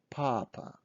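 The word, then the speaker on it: папа: ah so this is papa papa stressing is on first ah papa so pause my video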